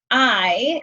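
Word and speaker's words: hay: like I said it's we don't pronounce H's in Spanish so it's pronounced I like I am and um we use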